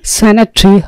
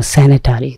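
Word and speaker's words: sanitary: স্যানিটারি অথবা স্যানিটারি, দুটো উচ্চারণে ঠিক আছে।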